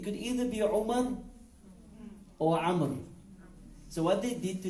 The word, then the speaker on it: Amr: So if you see Ayn, Mim, Ra with a waw after it, it should be pronounced as Amr, not Umar.